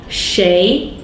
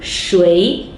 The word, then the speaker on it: 谁: Next off, 谁 or 谁. Both of these 2 pronunciations are correct.